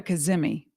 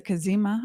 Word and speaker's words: Cazimi: I used to call it a kazmi but anyway it's a kazima I believe pronounced it's Arabic it's ancient